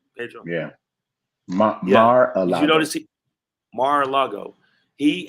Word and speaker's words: Mar-a-Lago: Mar-a-Lago.